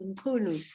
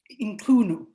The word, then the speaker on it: Mcunu: Am I pronouncing your surname correctly? Close, very close. Mcunu. Mcunu.